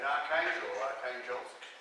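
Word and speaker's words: Arkhangelsk: where there was a North Russian expedition, and Archangelsk, as the Russians pronounce it.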